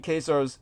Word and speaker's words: Khazar: it, the correct pronunciation, because Khazar in the Latin is pronounced just as if it's with a K, Khazar, and that's where